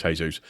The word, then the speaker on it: Jesus: I know it's Jesús.